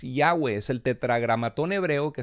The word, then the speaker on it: Yahweh: es una manera que a partir del siglo 16 a través de eruditos alemanes la y se convirtió en jota y la W los alemanes la pronuncian como entonces por eso se escribe el nombre Jehová pero en realidad Jehová no es el nombre de Dios sino es Yahweh es el tetragramatón hebreo